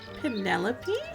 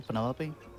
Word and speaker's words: Penelope: Is that short for Penelope? Officially, yes, Yeah. but I never can be bothered with all 4 syllables of it.